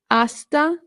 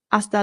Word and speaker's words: hasta: Hasta luego means see you later. Hasta luego. Hasta luego. Very good. Remember, the H in Spanish is silent, so this is not hasta, just hasta.